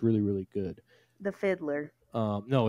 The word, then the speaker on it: FIDLAR: really really good the Fiddler um no it's just called Fiddler the fidler fidlar f i l a r is how it's spelled um they're a great